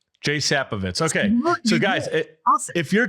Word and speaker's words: Sapovits: we started and I feel like I maybe butchered it. It's Jay Sappovitz. Jay Sappovitz.